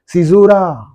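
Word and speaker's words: caesura: speech you know Cura the correct pronunciation of this figure of speech is Cura this is yet another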